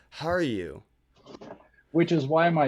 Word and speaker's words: Harju: say your last name Haru was I was wondering when you were going to ask that that's actually a common mispronunciation it's it's how you like how are you how are you which is why my